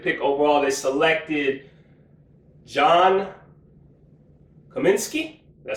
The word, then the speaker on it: Cominsky: With the second, fourth round pick, the 135th pick overall, they selected John Cominsky.